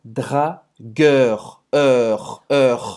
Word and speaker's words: dragueur: Dragueur. Esse você vai fazer a boca do O, tá? Bem aberto, O. E você vai falar dragueur. Gueur. Com R. Essa vez você vai pronunciar o R.